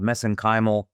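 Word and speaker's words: mesenchymal: uh what are called messenymal stem cells. That's how they pronounce it in Ireland anyway.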